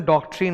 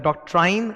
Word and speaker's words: doctrine: इसका pronunciation डॉक्ट्रीन होता है, डॉक्ट्राइन नहीं होता, डॉक्ट्रीन।